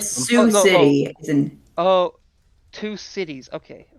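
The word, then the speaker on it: Sioux City: They're all from No, I said Sue City in Oh, two cities. Okay. Wait. Oh, that's how it's pronounced. Okay. I don't know if I was just Suix. Okay. So, Suic City or Sue City is in Iowa.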